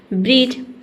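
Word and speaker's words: bridge: तो डी के बाद अगर जी ई दिखे तो वहाँ पे डी लेटर क्या रहता है, साइलेंट रहता है। ठीक है, यानी कि डी को हम नहीं पढ़ते हैं।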